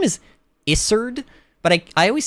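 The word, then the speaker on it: Isurd: say his name is isard but I I always say Izard which sounds like lizard but it's it'sard there's no there's no z sound um a lot of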